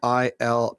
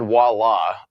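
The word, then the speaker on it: voilà: Yeah, but do we say it that way? voila. Yeah. Voila. Voila is how most of us say it.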